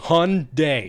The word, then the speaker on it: Hyundai: never heard an american it's a hyundai yes exactly two syllables and uh it's just